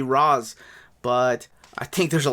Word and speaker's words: Ra's: I mean, it is an Arabic word, so technically it's supposed to be Raz, but I think there's a lot of liberties with that because of the creators.